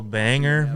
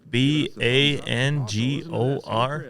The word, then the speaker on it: Bangor: East Coy main is a totally different uh dialect they call Banger m b a n g o r this how it's spelled it's banger but they call it Bangor Scott's listening listening to